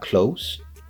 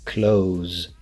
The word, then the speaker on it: clothes: both perfectly acceptable just be careful if you are going to use clothes make sure that the end you're pronouncing the Z sound not the S sound so it's not close its close that's actually the way